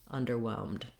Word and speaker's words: underwhelmed: In underwhelmed, both the word under doesn't really get that much stress, so I'm going to be short on both of those syllables. Same practice, start with the whelmed syllable and then add your unstressed syllables. Whelmed, underwhelmed.